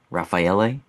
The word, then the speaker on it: Raffaele: In Italy, they they have that Raphael, that a at that, but it's with an e, but it's pronounced Raphael.